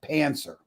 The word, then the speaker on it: pantser: Pancer.